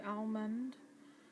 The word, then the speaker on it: almond: Water, almond, although the word's actually almond, but I pronounce it as though there's no D in it.